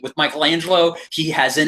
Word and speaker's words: Michelangelo: Alfred pronounces Michelangelo's name correctly as Michelangelo from like the actual Renaissance, and I'm like, oh, because he's actually like, you know, well trained, because he's a butler.